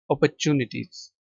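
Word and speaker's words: opportunities: अच्छा British accident में जो आर है यह साइलेंट है। ठीक है? ओपोरर्चुनिटीज।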